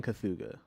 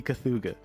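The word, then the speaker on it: Cthugha: how do you even how do you even pronounce this word okay i can't hear you at all right okay so he's saying cathuga okay old entity cathuga i'm gonna go with that it's a pyro it's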